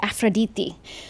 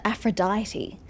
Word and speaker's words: Aphrodite: get mispronounced over time to my knowledge Aphrodite should be pronounced AF yes I'm basing this information of Assassin's Creed uh Odyssey but using a Greek accent I'm pretty sure and how they pronounce things in the Greek language I'm pretty sure it should be aphroditi so how is it that we englishif IED it and everyone just pronounces it Aphrodite actually that's not English